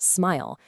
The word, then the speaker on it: SMIL: And one of the answers is a language called smile. Yeah, pronounced smile.